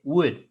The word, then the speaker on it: would: okay one more time remember don't pronounce the l okay guys would one